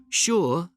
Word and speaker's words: sure: Sure and sugar are the only two words in the English language that begin with SU and are pronounced sh.